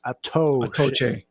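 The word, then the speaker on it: Attaochu: Is it Atuchu? I don't know how to pronounce his last name. Atoe. I saw a pronunciation key. Toe is the second syllable. Atoche. Okay.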